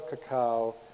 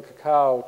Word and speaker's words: cacao: And if you go to the cacao chocolate place, they use that as the logo of their company. And the fish head and the fin are both pronounced ka, ka. So you have ka, ka, cacao.